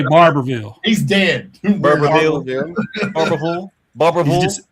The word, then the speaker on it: Barberville: So how do you say Barberville? He's dead. Barberville. Barberville. Barberville. You just say Barville. Barble. Barberville. Barville. You Yeah. want to put One marbles syllable.